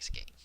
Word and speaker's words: skein: But we don't have any other words that sound like skein.